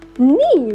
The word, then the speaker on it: knee: We pronounce it as knee, right? So again, letter K is silent here. We have to ignore that letter and we have to pronounce it directly from letter N.